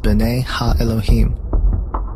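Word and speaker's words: בני האלהים: of God mentioned here in the Hebrew is pronounced Binet ha Elohim the Septuagint which is the Greek translation of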